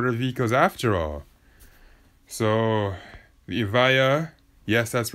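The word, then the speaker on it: Evija: Avaya yes that's right let's pronounce the Lotus if I are not Aviva cuz I know a lot of people are going to lazily assume that its Aviva is not it's Avaya hopefully people will actually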